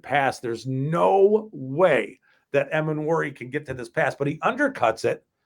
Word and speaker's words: Emmanwori: Emmanwori.